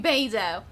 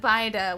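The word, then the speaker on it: Beidou: you came to me saying baido instead of bider when i wasn't thinking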